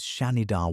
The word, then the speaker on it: Shanidar: His museum number is Shanidar 1, pronounced Shan-Idar, and the men who excavated him called him Nandi.